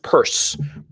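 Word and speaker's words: Peirce: i r CE and it's pronounced purse don't ask me why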